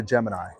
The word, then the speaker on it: Gemini: But if you want to start making signs, but you don't want to make the sign, you got a Gemini.